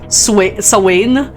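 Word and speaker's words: Samhain: Sain like spelled Sam Hayne. I kept that up because it has the word Sam in it and that's my name.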